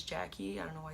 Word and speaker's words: Yaqui: why shouldn't we, and my name is spelled Y-A-Q-U-Y, which is Jackie.